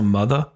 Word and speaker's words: Mutha: I met a woman named Sophia, who is a founder and host of the As a Mother podcast. I pronounce it like that because it's spelled Mutha.